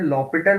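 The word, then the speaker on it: L'Hôpital: proper attention here, देखिए right, what we can pronounce this one Shreyas? Sir ये लॉपिटल बोलते हैं इसे।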